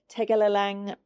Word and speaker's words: Tegalalang: So the Tegalalang rice terraces. Mm-hmm. That's the way you pronounce it.